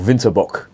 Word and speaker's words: Winterbock: is the bit Burger winter book or winterbock if you're gonna pronounce it in German this is a Bok